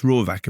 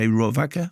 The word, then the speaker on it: Rohrwacher: She's Italian, and it looks like Alice Rohrwacher, but it's Alice Rohrwacher.